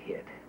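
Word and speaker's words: hyt: Tad, I've told you, don't say hit. My pa said hit. Your pa was wrong, son. Technically, his father was right. Hit is the original pronunciation of the pronoun it, and was spelled H-Y-T.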